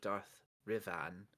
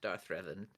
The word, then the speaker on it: Darth Revan: the holocron gatekeeper of Darth rivan has proven to be a very uh not Darth Revan yeah like you say it like like you're like not the other one not the other one